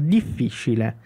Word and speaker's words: difficile: que é a palavra difficile. Difficile. Lembrando que esse ti, ele é um ti seco, ti.